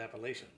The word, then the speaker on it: Appalachian: One guy called the mountains Appalachian Mountains, and I told him it's not Appalachian, it's Appalachian.